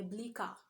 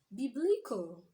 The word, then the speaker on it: biblical: simple as that so a work that we usually pronounces by bleaker should do what biblical a word like Ospital